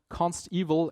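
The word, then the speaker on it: consteval: pronounce it right because it's not evil as in something bad it's evil as in evaluated at compile time it's guaranteed in comparison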